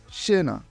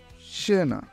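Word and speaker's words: scena: যদি এসসে চি এর পরে এ বা ই থাকে তাহলে এটি বাংলায় স এর মতো উচ্চারণ হয়, যেমন সেনা, সেনা।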